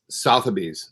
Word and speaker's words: Sotheby's: How do you pronounce that, Mark? Sotheby's.